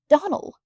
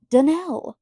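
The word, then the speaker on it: Donnell: Clarice Almyra told me that you pronounce our name Donald. Now, Miss Shirley, the correct pronunciation of our name is Danell. Accent on the last syllable.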